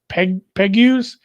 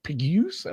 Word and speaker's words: Pegues: JJ Pegues? Sure. Pegues, you got it.